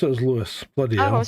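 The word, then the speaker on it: Lewes: Lewis, even though it's not spelled that right.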